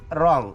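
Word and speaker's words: wrong: म्हणजे लिहिणे नंतर आहे रॉंग ओके रॉंग देखील इथे काय आहे की डब्ल इथे सायलेंट आहे आर ओ एन जी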